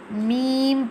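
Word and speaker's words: ميم: Meme pronounced from the dry part of both lips, like this. Meme.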